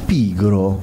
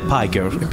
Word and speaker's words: Pigro: Prossimo disco si tratta del nostro Vito Antonio Gasparro, si chiama Pigro. Yes. Non è Piger.